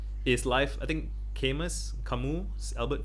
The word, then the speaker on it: Camus: problems are like is life i think cameras camus albert camus is that how i pronounce it he said um the questions in